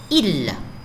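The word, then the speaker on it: ils: Il. Il avec S, mais je ne prononce plus le S.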